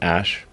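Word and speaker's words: Æ: I mean, it's just X, the letter X, and then the AE is like pronounced Ash.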